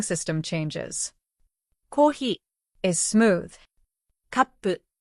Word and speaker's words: カップ: Kappu has a pause before pu.